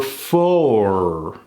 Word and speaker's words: four: kill the vowel but for the actual number four we pronounce that vowel the war is over